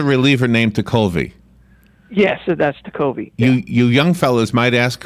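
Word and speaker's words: Tekulve: Yes, that's Tucolvi.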